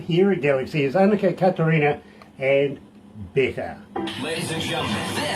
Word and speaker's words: Catharina: And we kind of just grew up pronouncing it Annika Catharina, but I think the way it's supposed to be said is Catharina.